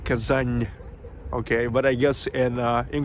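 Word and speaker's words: Казань: Without soft sign, N would be pronounced as N, but with soft sides, it's N. Kazan and Kazan.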